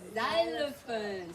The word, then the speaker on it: xylophone: X is for xylophone. See, this is X, but when it sounds Z.